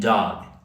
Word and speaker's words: dog: So this is what you can do that G needs to be very soft like when you say backlog backlog backlog bag tag tag. So it's not tac, it's not t and dog. Dog dog. Very soft G sound. Dog. So it doesn't sound like duck.